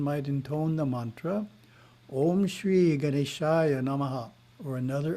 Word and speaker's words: om: must be pronounced correctly the first syllable is a pronounced as the english word ah but prolonged ah second syllables ooh